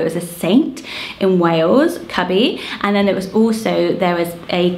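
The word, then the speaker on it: Cybi: Just going with it, because I think it's perfect for this list, and it's the name Cubby. So it's spelled C-Y-B-I, and it's Welsh, and it's Cubby.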